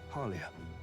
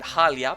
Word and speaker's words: Haria: where are you from have you heard of a village called Haria Haria okay I pronounced it halia but okay M ask M asks